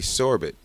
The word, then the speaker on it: Sorbet: They were brothers, Red and Randy Sorbet. The Sorbets pronounced their names like sorbet.